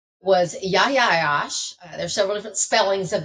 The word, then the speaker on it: Yahya Ayyash: His name was Yahya Ayyash. There's several different spellings of that, so you may see it one way or the other, but it's pronounced Yahya Ayyash.